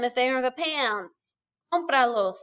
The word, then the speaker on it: Cómpralos: Cómpralos, accent on the O.